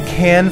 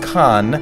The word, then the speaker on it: Cannes: screening at the festival they can not like soda can can like the Cannes Film Festival one of the most prestigious film festivals in the world re very important it's not pronounced con or cane or cans that's a sure way to get spit in your croissant first things first we